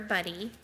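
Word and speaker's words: Budde: the Episcopal Bishop Marian Edgar buddy yes that is the correct pronunciation used part of her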